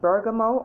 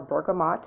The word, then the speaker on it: bergamot: started anyway all right so bergamo or bergamot depending on how you pronounce it that's one that that's